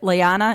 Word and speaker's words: Lyanna: episode was when what's her name is it lyanna is that how you say it yes lyanna Mormont who stabbed the Giant in the eye